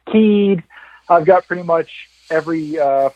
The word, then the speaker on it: Kyed: It's a Danish last name. I think it's pronounced in Denmark.